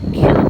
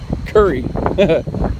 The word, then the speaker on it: Kure: So I guess I have to stop calling it Kure Beach. I've been informed it is Kure Beach, K-U-R-E, but it's pronounced Curry.